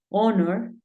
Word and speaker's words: honor: Pero hay algunos casos, como 4 palabras en las que la H es muda. Por ejemplo, hour, que es hora. Tenemos honor y tenemos honest.